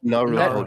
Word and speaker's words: Naruhodo: How do you pronounce the name again? Naruhodo.